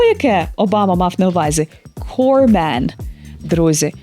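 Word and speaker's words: corpsman: означає труп слово яке Обама мав на увазі corman друзі вимова особливо складних слів має дуже велике значення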